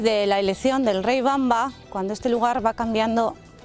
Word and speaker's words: Wamba: eso mucha gente dice wamba pero la w germana se pronuncia como la b sería bamba es en el mismo